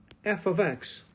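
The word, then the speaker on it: f(x): Y with the notation f of X and so I want to point out first of all that in this notation right here f parentheses X parentheses is pronounced f of X that's how we say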